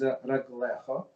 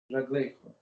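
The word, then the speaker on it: רגליך: Okay, so pronounced without Yud, but written with a Yud, which would normally read is Raglecho.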